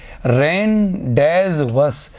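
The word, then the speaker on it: rendezvous: रेंडवस। तो रेंज बस इसको जी डी इसमें साइलेंट रहता है या फिर रैंड रेंडवस भी कह सकते हैं।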